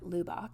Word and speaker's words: Lubbock: a google map of lubbock where i live or lubac as my canadian family prefers to pronounce it and as you can